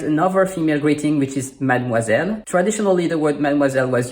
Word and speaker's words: mademoiselle: In Mademoiselle, you have the digram OI, which is the spelling for wa, which we learned a moment ago in bonsoir.